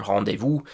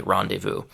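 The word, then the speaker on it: rendezvous: and social life is rendevu. So in French the pronunciation is super similar rendevu. In English uh we can't really say that French R. So we just say rendevu.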